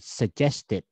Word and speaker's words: suggested: If the last letter T, it will become, you have to add one more syllable. You have to add one more syllable. T or D. Okay. Like suggested.